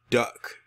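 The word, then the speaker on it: Duyck: This man's name is Kenneth Duck. Yes, his last name is Duck, but it's spelled D-U-Y-C-K.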